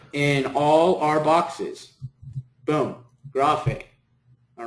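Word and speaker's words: γραφή: And this word is pronounced as graphe, graphe, graphe, okay?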